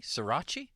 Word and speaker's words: sriracha: wings one platter with four flavors plain barbecue sriracha buffalo is that how you pronounce that hokey sriracha yeah sriracha sounds good to me and garlic